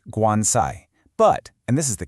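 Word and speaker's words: 棺材: So, in Chinese, the word for coffin is pronounced guansai.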